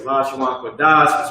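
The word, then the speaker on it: לשון קודש: You already know, man, it's the Friday Hebrew class, the Lashawan Kodash, which means holy tongue. That's how you say it in Hebrew.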